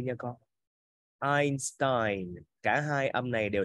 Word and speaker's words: Einstein: Chữ này đọc là âm I nha con. Einstein.